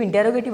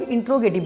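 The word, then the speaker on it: interrogative: इसको बहुत लोग इंट्रोगेटिव बोलते हैं, तो ये इंट्रोगेटिव नहीं होता है। I would suggest you डू not pronounce this इंट्रोगेटिव, then what you have to pronounce, you have to just pronounce इंटेरोगेटिव।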